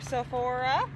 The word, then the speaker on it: Sephora: Okay, am I pronouncing this right? Why am I not pronouncing it right? Sephora. I'm sorry, I'm so new to all this. No, Sephora.